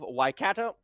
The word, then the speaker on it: Waikato: Waikato, I think it's Waikato. No. Waikato. Waikato. Yeah, because I was calling it Kato at the start.